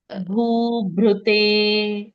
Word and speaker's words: भूभृते: नमः समस्तभूतानां नमः आदिभूताय भ्रू, सॉरी, भूभृते। भ्रू, भू, भूभृते। करेक्ट। भ के साथ री की भूभृते। मात्रा लगी है, वो भू- ऋषि का री।